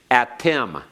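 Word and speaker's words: אַתֶּם: Let's pronounce these again. Attem.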